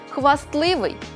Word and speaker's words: хвастливий: слова-винятки які потрібно запам'ятати у цих словах винятках звук т у вимові зникає але на письмі зберігається можемо більшість із них запам'ятати за такими рухами створюйте за мною зап'ястний пестливий кістлявий хвастливий нарешті назбираємо 16 60